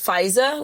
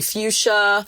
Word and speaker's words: Feuza: But the problem was growing up, people always butchered my name because the EU messes, people call me Fuchsia, Feuza.